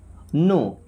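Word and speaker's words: know: well I means मैं नो के silent है ना डब्ल्यूबी साइलेंट आई नो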